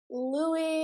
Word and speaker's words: Louis: Louis Tomlinson. The S is silent. So I've heard.